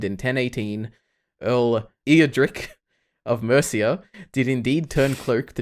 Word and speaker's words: Mercia: Actually, I think America. That is what I think. It's not quite America. Yeah. Well, I pronounced it incorrectly, but Mercia is. Yeah. Is the correct way.